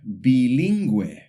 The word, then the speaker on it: bilingüe: But if we see a diéresis, those two little dots over the U, it tells us, hey, this U should be pronounced. For example, pingüino and bilingüe.